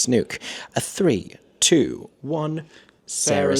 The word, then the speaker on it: Snook: That is the correct pronunciation. It's Snook everybody. It's Snook.